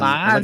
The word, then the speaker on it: Monzo: Yeah, it rhymes with Gonzo. Only it's Monzo. But I thought it was M-A. Like Mon. Monzo.